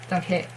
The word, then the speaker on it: Donghae: Donghae. Okay, something like that. Donghae. But not Donghae. Donghae. Okay? There is the word that ends. There is not E sound.